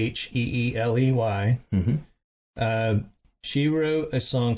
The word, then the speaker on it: Sheeley: She was a songwriter, and let's say her name is Sharon Shelley. It's Sheeley.